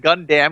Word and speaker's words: Gundam: uh I read the chat waiting gamble said gundamn because that's how you pronounce it always isn't that how it's pronounced